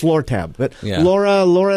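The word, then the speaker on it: Lortab: any of that perad daral it was actually Laura tab I know it's pronounced I I know it's it's lur tab but Laura Laura L tab uh yeah okay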